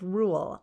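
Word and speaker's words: Reuel: him in exodus 218 where he is called rule r-e-u-e-l so there's there's an interesting thing is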